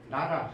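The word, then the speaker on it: 奈良: 그래서 큐슈 지역에는 가야계 유적이 대단히 많고 이것이 일본이 나라, 한자로 나량인데 나라라고 읽죠.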